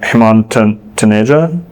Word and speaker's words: Hemant Taneja: General Catalyst, who is mostly behind Commure, Hemant Taneja, that's how you pronounce it, posted on LinkedIn that Commure needs